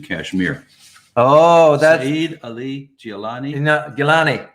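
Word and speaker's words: Geelani: Oh, that's Saeed Ali Gilani. Gilani.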